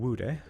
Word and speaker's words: Wude: main theme of attaining Wude. I don't know how to pronounce it. I got it right. I got it right. It's fine. It is woud.